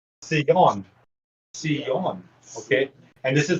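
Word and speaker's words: ציון: So Zion or Zion is actually Sion.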